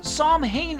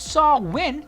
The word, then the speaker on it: Samhain: So Samhain is the phonetic pronunciation of the name. It's actually pronounced Samhain, so there's a difference right there.